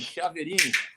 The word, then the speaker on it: Chiaverini: É raro pronunciarem corretamente. Chiaverini.